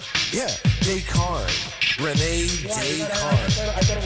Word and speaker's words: Descartes: Anyway, yes, he's a French guy, so they don't pronounce their S's. E-S is pronounced A, and, you know.